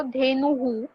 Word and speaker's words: धेनुः: धेनुहु धेनुः एंड गर्दभः. गर्दभः. यस, धेनु के बाद हु बोलना है, सिर्फ ह नहीं.